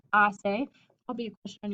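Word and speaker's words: hace: from the verb assail remember the h is silent so please don't say hasse it's assay i'll be a question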